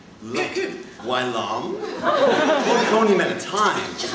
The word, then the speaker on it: Wai Lumn: It starts with such airy promise. Why? And ends with such solemn resonance. Long. First syllable that begs the question. Why? And of course, that second syllable Look, Wai Lumn.